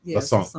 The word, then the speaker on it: LaSane: It's French, so it's LaSane.